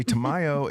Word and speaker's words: Tamayo: So joining me from directly across the table and just a little bit down is some say tomato, I say Tamayo.